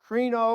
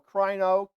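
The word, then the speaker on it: κρίνω: word translated judge is i'll probably mispronounce it krino or crino k-r-i-n-o the word from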